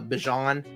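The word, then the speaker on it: Bijan: Oh, I I should probably say his name how he says it. Uh, Bjon.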